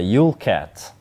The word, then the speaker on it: Jûlkat: we have a new kit that is a ulat that's how you pronounce it it's a Danish Recon vehicle so